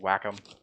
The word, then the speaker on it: Wacom: do you pronounce the everybody says it's a different wacom whack-on i always heard wacom wacom yeah that's what i always heard but something sometimes you hear people call it whack-em yeah there's also